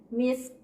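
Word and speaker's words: مسك: Cara bacanya kayak tadi, misk. Jadi k-nya itu tetap terdengar tapi tidak sempurna. Jadi kita menyeret ya, sin sukun dengan ka sukun kita langsung sambungkan, misk.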